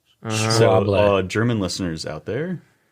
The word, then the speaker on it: Schwalbe: it was like Schwable. Yeah. No, it's like Schwa. Schwa. The SCHW that makes like a V sound. Schwable.